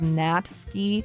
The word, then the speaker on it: Natsuki: what do you mean the U isn't pronounced natsuki is pronounced as natski I don't care I'm